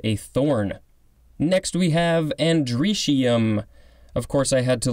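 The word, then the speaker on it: androecium: Next we have andricium. Of course, I had to look at the pronunciation to figure out how it was pronounced.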